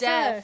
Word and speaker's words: deaf: That guy that always gets deaf. us. I thought you said death right Yeah.